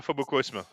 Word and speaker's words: Phobocosm: T'écris ça comment Phobocos, comme ça se prononce Phobocosm. Phobocosm. Voilà, Phobocosm.